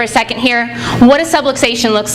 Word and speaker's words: subluxation: we call it a subluxation rhymes with subway station I tell people that's